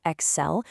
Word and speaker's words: excel: The source provides the phonetic spelling for us, excel, putting the punch right on that second syllable.